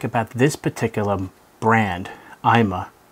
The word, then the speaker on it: iMah: about this particular brand imma that's actually how it's pronounced I'm uh I've actually spoken to the manufacturer many times and that's how would you say it i'ma so there are two